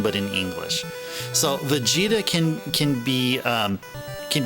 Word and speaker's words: Vegeta: there we go so the way that's pronounced is Vegeta with the stress stressing the G part veget it's not Vegeta it is Vegeta and how that Maps